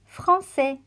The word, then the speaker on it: français: La cédille makes the sound S, like in the word français.